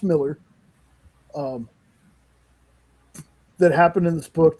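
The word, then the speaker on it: Millar: It's actually pronounced Miller.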